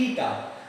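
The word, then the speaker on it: η: So efficiency of transformer, it's symbol would be ईटा, it's pronunciation is ईटा।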